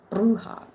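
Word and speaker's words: bruja: Bruha, Jessica, you can roll your Rs. Do it right. Bruha.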